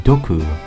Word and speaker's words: doku: As a pun, it's often written as poison man since both single and poison are pronounced dku.